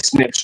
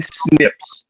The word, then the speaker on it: SNPs: about the snps and you're just pronouncing them as Snips which are nuclear TI